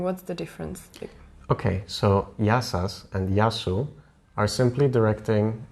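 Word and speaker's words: Γεια σας: how to say hello how do you say that you say yasas and sometimes um I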